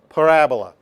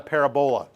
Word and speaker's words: parabola: curving shape, very symmetrical, called a parabola, not a parabola. When people are first learning about this, they sometimes say parabola. Because it looks like it should be pronounced parabola, but it's parabola. You got to put the accent on the right syllable.